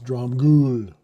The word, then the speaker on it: Dromgoole: Laurie Duncan says the E in Dromgoole is silent. So it's Dromgoole.